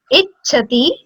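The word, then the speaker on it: इच्छति: Man yah, ka, ichhati, man yah, ka, ichhati, ichhati. So say it like ich and chati. So when you will combine it, it will be ichhati. Ichhati means desire.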